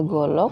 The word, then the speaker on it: golok: Tulisannya golo, bacanya golok, artinya bola.